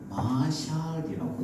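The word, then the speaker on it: משל: 어 히브리 말로 뭐라고 읽는가 하면 자만을 히브리 말로 마샬이라고 이렇게 있습니다.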